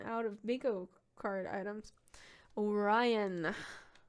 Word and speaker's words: Orion: Orion. Which I learned here in Germany is pronounced Orion. But I say Orion, and I always have growing up in California.